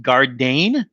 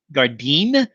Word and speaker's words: Gardein: think the company is i think it's pronounced gardein garden guardian maybe guardian i'm not sure i'm not sure i think that the emphasis is on the word garden they just kind of mix up the letters and everything and the